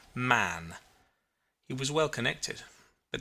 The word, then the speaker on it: Mahon: He had a Roman nose, a snow-white, long beard, and his name was Mahon, but he insisted that it should be pronounced Mann.